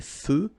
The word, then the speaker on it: feux: So here, final X not pronounced. Des feux de circulation.